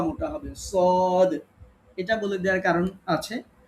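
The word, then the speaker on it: صاد: সদ, স এটা বলার সময় স্বরটা পোর হবে, মোটা পাতলা হরফ একটু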